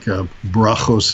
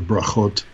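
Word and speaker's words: ברכות: the land of Israel, not the Ashkenazi accent where the T is pronounced as an S, like they will say Ivris instead of Ivrit, right? And other things like brachos instead of brachot.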